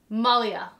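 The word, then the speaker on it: Malhya: a n or an h that's a m-a-l-h-y-a malia malia lands of legends now why am i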